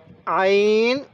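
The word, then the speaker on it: عين: এরপরে আইন গইন হামজা। আইনটা চাপ দিয়ে পড়ব, আইন গইন হামজা।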